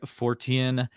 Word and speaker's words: Fortean: have uh mr tobias waylon from the singular fortien society i said it like i i wake up in a cold sweat about pronouncing that and did i get it right